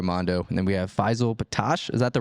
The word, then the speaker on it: Faysal Bettache: And then we have Faysal Bettache.